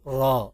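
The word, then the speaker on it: ر: এখন দেখেন এই যে নুক্তা ছাড়া এই আকৃতিটার নাম হলো র।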